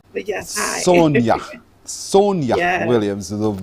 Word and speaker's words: Sonja: is the author herself Sonja Williams Sonja good morning to you hi yes it's actually Sonia but yes hi Sonia Sonia Williams the J pronounce it y as in Spanish thank you so much